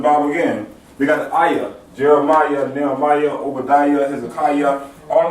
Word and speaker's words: Ahiyah: And you gotta like, you know, say it like Ahiyah. ASHER, Ahiyah. Yes, sir. That's how you pronounce his name.